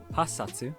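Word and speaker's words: 八冊: 8 books are hassatsu because the hachi and satsu run together in speech, so you get hassatsu, and sansatsu for 3.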